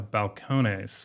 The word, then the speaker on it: Balcones: So, I brought a Balcones, which is a Spanish pronunciation, but it's actually from Waco, Texas, and it was the first bourbon distillery in Waco.